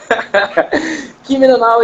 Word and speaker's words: Kimi no Na wa: Mas o nome do filme, salvo engano, é o Kimi no Na wa. Kimi no Na wa. Assim que você pronunciou? É, isso aí. Kimi no Na wa, e hoje vai ser corte em cima de corte.